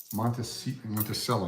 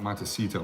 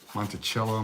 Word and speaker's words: Monticello: Monticello, not Montecito. Montecito is that fake casino in the Las Vegas TV show. Monticello, Monticello, however you want to pronounce it.